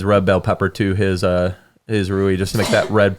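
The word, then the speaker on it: rouille: the side with essentially a saffron aioli called Rui. That was also Anthony's recipe as well. How do you spell that? That was very good. Yeah, Rouill. Rui.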